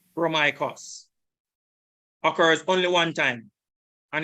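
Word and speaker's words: Ῥωμαϊκός: This is the pronunciation. Strong's G 4513. Chromaikos. Chromaikos. Chromaikos occurs only one time, and it is in that verse.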